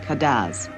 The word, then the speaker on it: cadence: the islands French patois the music is spelled cadence and called Cadiz Dominica lies between the